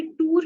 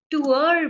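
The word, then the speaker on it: tour: जैसे कि टूर है, उसको हम कभी टूर नहीं बोलते, टूअर बोलते हैं, टूअर।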